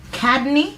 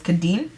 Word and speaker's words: Kadine: to continue answering questions cadney I think that's how it's pronounced hi my name is C kadine sorry it's kadine and I'm just 20 years